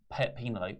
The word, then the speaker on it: Penelope: It's what happened was Kip and Penelope.